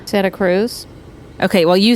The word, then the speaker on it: Santa Cruz: But for the first several months, I was saying Santa Cruz, and everyone would start laughing and laughing and laughing because I had a hard T on Santa Cruz.